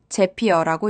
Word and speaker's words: Zapier: 제피어라고 읽습니다.